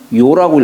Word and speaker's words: 陶: 근데 이게 이제 도자기를 뜻할 때는 도라고 하지만은, 예, 도라고 있지만은 사람 이름을 뜻할 때에는 요라고 읽어요.